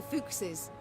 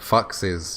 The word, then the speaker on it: Fuchses: That the entire clan, the Fuchses... The Foxes. You're pronouncing it incorrectly, Meave.